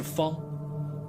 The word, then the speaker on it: 方: 就拿这个字来说，它的读音是方，它的意